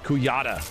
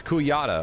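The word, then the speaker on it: Kujata: K join your cause it's kuata all right you're pronouncing it wrong game damn caves though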